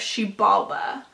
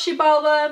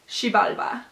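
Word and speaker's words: Xibalba: awakens a god of she Baba and I'm think it's pronounced she Baba because that is how they pronounce it in road to Eldorado which is a DreamWorks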